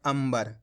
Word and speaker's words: अंबर: तो मिलके बन जाएगा अंबर यहां पर अपन ने आधा मा का उच्चारण करा है कैसे पढ़ा है इस तरीके से पढ़ा है अंबर कितने लोगों ने सही